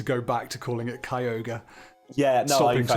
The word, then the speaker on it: Kyogre: you've started calling it kyoga and I've I've decided to go back to calling it Kyogre yeah I decided to go with Kyogre on the basis that that's the that's the Japanese pronunciation hmm that's not the